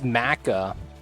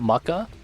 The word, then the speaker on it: Macca: It's Macca. It's not Mucka. Feels bad. I've been saying his name wrong for the longest time.